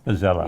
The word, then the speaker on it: Bezella: Did I pronounce that right? Bezella. Bezella. Yes, Okay. close. Bezella.